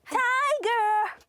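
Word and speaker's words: タイガー: なおこ、はい、タイガーじゃなくてタイガー。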